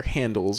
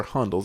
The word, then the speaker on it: Handel's: And you know, I do love myself some, depending on how you pronounce it, either Handel's or Hondel's ice cream.